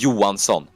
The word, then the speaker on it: Johansson: The H is, like, kind of pronounced.